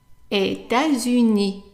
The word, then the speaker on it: États-Unis: And remember, the S here at the end is going to be pronounced as a Z. And that's because we have a liaison between the two words.